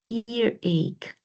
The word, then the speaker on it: earache: So the pronunciation of the ending is ache.